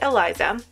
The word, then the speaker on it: Eliza: i'm gonna call it elisa i know some people pronounce it eliza but my sister's name is elisa and it's actually her